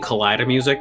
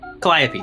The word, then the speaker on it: Calliope: I just gotta know I keep saying collider music because that's how I first heard it I've also heard of it heard it pronounce caliper or something like that